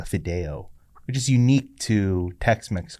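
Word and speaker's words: fideo: the dishes that they served uh it's called Fido which is unique to TexMex Cuisine can you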